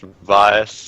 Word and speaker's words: Vaes: So, with Vase's knowledge of the nearby catacombs, it's probably safer to head into there. So, Vase, you know the location. You know the name is actually pronounced Vaes.